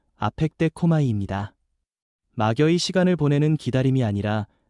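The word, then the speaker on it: ἀπεκδέχομαι: 여기서 기다린다는 말은 헬라어 발음으로 아펙데코마이입니다.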